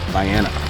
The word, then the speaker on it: Vienna: Yep, that's how they pronounce it, Vienna.